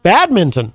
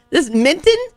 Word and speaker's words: badminton: Badminton. No, that's not. This minton? Yes. It's like tin. I'm saying it correctly. You're saying it like MINTIN. I'm enunciating all of the syllables.